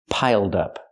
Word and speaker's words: piled up: We have the d sound for the ed. Link the sounds, piled up. Pronounce it like one word, not piled up, but piled up. Connect the d with the next word, dup, piled up.